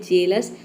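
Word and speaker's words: jealous: का साउंड आता है तो ई ए लिखते हैं जैसे कि जेलस जेलस में देखिए ए के साउंड के लिए हम यहां पे ई ए लिखते हैं यहां पे ई ए को हम ए प्रोनाउंस करते हैं तभी इसका प्रोनंसिएशन होता है जेलस उसी तरह से यहां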